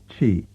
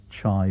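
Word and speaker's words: chy: learned to pronounce as Chi yeah but what you're saying is that because it's pronounced in dialect as chai or even as Choi you know how do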